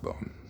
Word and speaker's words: Bon: e on the end it's a bone without the e on the end b o n but it is pronounced bone um indigenous tibetan culture